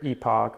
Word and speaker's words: Epoch: with the pronunciation uh this varies uh depending on region for the most part I tend to say epic batteries over in Europe uh it's either Epoch or Epoch depending on depending on exactly